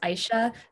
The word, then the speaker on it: Isha: first of all um my name is pronounced aisha yes or if you